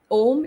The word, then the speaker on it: Om: Om is 3 syllables coming together.